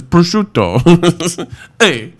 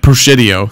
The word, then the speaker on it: prosciutto: on a lot of things so like it's prosciutto prosciutto so it's it's like anakin is like the opposite prosciutto well like until you know how to pronounce it a lot of people would say like proscitio or prosciutto or you know really but you